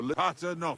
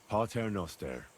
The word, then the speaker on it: Pater noster: Aye, but it's Latin, so pater no advent... Your turn. You're saying it wrong. Listen. It goes like this. Pater noster, qui es in celis, sanctificetur nomen tuum.